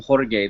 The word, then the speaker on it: Jorge: But in Spain, everyone pronounces his name Jorge. They don't pronounce the J. It's silent.